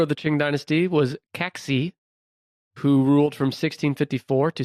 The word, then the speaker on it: Kangxi: Under this guy, this is Kaxi, and it's spelled Kangxi.